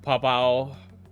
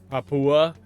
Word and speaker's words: Papua: Things like Papau Papua actually is how that's pronounced. I'm pretty certain.